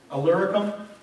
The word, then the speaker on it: Illyricum: "So that from Jerusalem and round about unto Illyricum," I said it right, "I have fully preached the gospel."